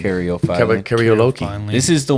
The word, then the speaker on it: caryophyllene: I think one that rounds it out is I pronounce it Caryophyllene. Caryophyllene.